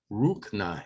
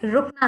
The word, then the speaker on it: रुकना: Now again, I was pronouncing this incorrectly. I'm trying to do it correctly now. Mujhe rukna hai. Is that correct? Yes, it is. मुझे रुकना है.